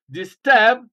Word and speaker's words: disturb: unstressed examples disturb uh the prefix here is this and it's not stressed you stress the second syllable disturb UNF unknown return rewire